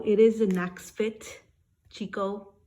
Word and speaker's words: Chicco: is an axe fit Chico or Kiko how they say it as I was telling